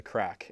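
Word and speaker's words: craic: Well, I mean, one word that we have in Irish, they call it the crack, and it's not that kind of crack. Right. It's spelled C-R-A-I-C, and it just means good fun.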